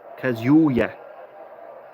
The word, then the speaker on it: Kazuya: It's not a Kazuya. It's Kazuya. So emphasize yeah. Kazuya. Oh no, wait a second. Kazuya. Yeah. Kazu as in is you, and yeah as in yeah.